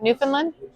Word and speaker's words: Newfoundland: Newfoundland. Close. It's more like Newfoundland. Like you don't say the D.